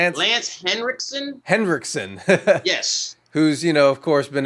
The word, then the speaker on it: Henriksen: Henriksen.